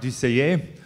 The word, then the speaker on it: Dusseiller: sounds good okay okay give hand please my my French name is a bit difficult to pronounce so my real name is DCA I'm stuck with a